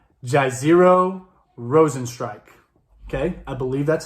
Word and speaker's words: Jairzinho Rozenstruik: We're talking Francis Ngannou versus, I will try this name, Jairzinho Rozenstruik.